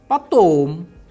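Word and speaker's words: потом: Unstressed o is pronounced like unstressed a. For example, patom, patom.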